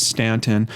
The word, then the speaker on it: Staunton: here uh it looks like the pron the pronunciation on this is Stanton Stanton is an independent city in the US